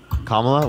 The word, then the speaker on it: Kamala: be a better leader than how do you pronounce it Kamala I believe kamla why is he going to be better than